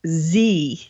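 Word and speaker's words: Tze: By the way, his first name is pronounced Z.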